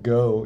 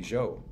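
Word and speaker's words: Geaux: Oh, right, like go. Yeah. And it's very cute, but of course, if it were actually pronounced in French, that would be Jo.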